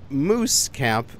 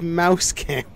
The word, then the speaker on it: Mouse Camp: I noticed people commented it's not moose Camp it's mouse camp I've been saying it wrong the entire time but you know what